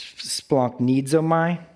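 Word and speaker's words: σπλαγχνίζομαι: It's splanchnizomai. Splanchnizomai. It's spelled, not that you would care, but splanchnizomai.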